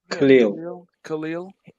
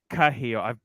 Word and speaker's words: Cahill: Khalil. It's Cahill. Okay. I spoke to him. That's how it's He pronounced.